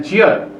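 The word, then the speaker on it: 지읒: Ini namanya jiot.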